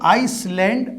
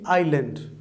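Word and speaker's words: island: ये जो एक वर्ड दिया हुआ है ये आइसलैंड नहीं है, इसमें एस साइलेंट है, इसको हम पढ़ेंगे आइलैंड, राइट।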